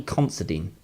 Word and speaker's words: Considine: It's coming out the 30th of March, and it's starring and it's written and directed by Paddy Considine.